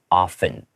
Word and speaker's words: often: So often, even though there's a T, we will often pronounce it often, like without the T sound.